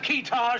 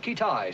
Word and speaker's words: Kitaj: Have we located this fella Kitaj yet? Pronounced Kitai, sir.